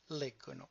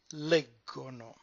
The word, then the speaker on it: leggono: It's leggiamo, leggete, but when it goes to the third person plural, the stress moves one syllable up and it becomes leggono.